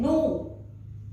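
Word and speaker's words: nos: Then no, that we will use notre, N-O-T-R-E, that means our.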